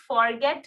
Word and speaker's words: forget: FORGET. इसे हम forget नहीं कहेंगे, हम कहेंगे forget, right?